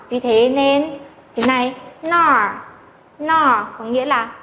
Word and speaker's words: 哪儿: Và khi thêm bộ nhi chúng ta sẽ phải đọc là nọ, nọ, nọ.